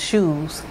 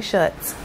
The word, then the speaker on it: Schutz: Somebody told me it's pronounced shoes. And I was like, I don't know. That's not how I read it. I say Schutz.